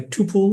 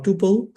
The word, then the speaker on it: tuple: Uh usually you can pr pronounce it like a tupole or tupil.